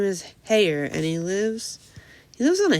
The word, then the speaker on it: Hare: Okay, it says he pronounced it as so as to rhyme with mayor. Hare.